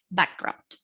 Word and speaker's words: background: Then we got background, which is a compound noun. The tendency also is to be accented or stressed on the first syllable, the first part of the word. In this case, it would be background.